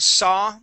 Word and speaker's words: saw: the word saw okay whenever we see an A W okay we do not want to pronounce that sa and pronounce an oo sound okay neither with the word draw okay or thaw okay whenever you see that aw okay in a in a word it would never be a okay we do not pronounce an O at the end all right so we